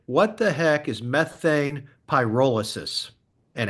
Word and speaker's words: pyrolysis: or anything it is the term is p pyrolysis and the idea in wait I'm let me stop there so I'm not saying it correctly pyrolysis yeah like imagine a pie that's like rolling down a hill um py so let